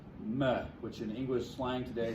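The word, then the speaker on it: מֶה: Although that one would be pronounced meh, which in English slang today means I could care less.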